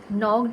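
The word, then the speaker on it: knocked: नॉक्ड में के की साउंड नहीं आती।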